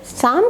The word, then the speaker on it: psalm: शाम पीछे असीम ने यहां पर ऑयल दोनों साइलेंट रहते हैं शाम का अर्थ होता है भजन दैनिक जीवन के